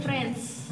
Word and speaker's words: Francha: Franca itu? FRANCHA. Tapi bacanya France. France.